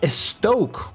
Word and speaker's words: Estoque: we're testing the Lamborghini estoque or stock as you're kind of supposed to pronounce it in Spanish but yeah we're gonna